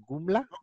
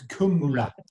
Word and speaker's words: Kumla: Gumla? It's Kumla.